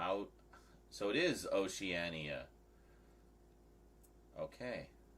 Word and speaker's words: Oceania: a knife for something somewhere oania maybe it's Oceania maybe it's Oceania o out so it is Oceania okay o Oceania so kattin was close just